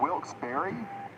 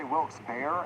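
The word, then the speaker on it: Wilkes-Barre: Some say it like Wilks Berry, some say Wils Bear, and some say Wils Bar.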